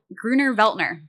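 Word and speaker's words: Grüner Veltliner: Gruner Veltner. Gruner Veltner.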